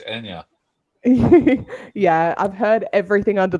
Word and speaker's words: Anja: so we're saying your name wrong. It's Anya.